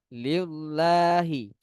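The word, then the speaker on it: لِلَّهِ: Padahal harusnya tipis. Bacanya seperti lam, huruf L di bahasa Indonesia.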